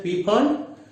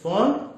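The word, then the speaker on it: Pfund: It is P, F, U, and D, but P is actually silent. It is, many people pronounce it as P font, but it is actually font.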